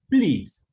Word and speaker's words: please: because of one reason this diphthong makes the same sound every time it's like an e please each reach leave